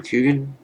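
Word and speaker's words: Coogan: played by uh Steve let me see Steam cougan am I pronouncing that correctly yes and then the B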